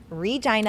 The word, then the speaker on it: Regina: regina saskatchewan canada yes i said it right regina i would hopefully be friends i did yes